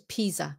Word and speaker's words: Pisa: But this is Pisa. I'm just making a point about peas. Leaning Tower of Pisa. Nhớ Pisa. Chứ không phải là pizza.